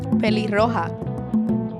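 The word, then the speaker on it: pelirroja: Peli-roja. Peli-roja. Peli-roja. Almost Peli-roja. like peligrosa.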